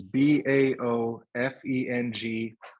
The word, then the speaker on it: Baofeng: The ones we bought are called, I don't know how it's pronounced. It's BAOFENG.